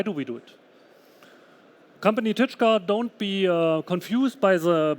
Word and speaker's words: Tyczka: it and why do we do it company touch car don't be confused by the by the pronunciation of the name by itself we are